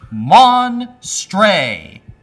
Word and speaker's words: Monstre: Monstre.